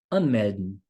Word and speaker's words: anmelden: Então, por exemplo, anmelden, né? O verbo sich anmelden. An é um prefixo. Então, é um prefixo separável. Então, a sílaba tônica fica em cima do prefixo.